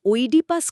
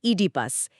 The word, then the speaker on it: Oedipus: নামের উচ্চারণটা অনেকেই ওইডি পাস করে থাকেন। কিন্তু আসলে এটি হবে ইডিপাস।